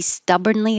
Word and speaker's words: stubbornly: stubbornly the adverb he stubbornly agreed to go to the party it looks like born but we don't say born it's burn stubbornly and stubborn he's so